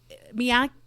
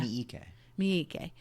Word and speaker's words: Miike: So Miyake, am I pronouncing that wrong? His name? Yeah. The director? Yeah. Miike.